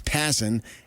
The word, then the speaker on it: Passan: Because I asked him how do you pronounce his name and it's Passan and he said he's hearing from owners that say, "We're not going to have a season next year."